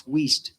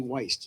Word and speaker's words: Weist: If you're keeping track at home, it's Weist. Don't ever say Weist. All right. Got it. It's German. It's German. All right. Sometimes it's usually the second letter you pronounce.